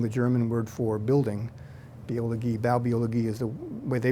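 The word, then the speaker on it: Baubiologie: US B being the German word for building bi bologi is the way they pronounce it in Germany we call it building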